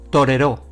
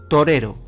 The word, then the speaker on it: torero: veamos con la palabra si es aguda termina en vocal lleva tilde se diría torero pero esta palabra no existe si es llana como termina en vocal no llevaría tilde y se diría torero esta es la correcta veamos qué pasa si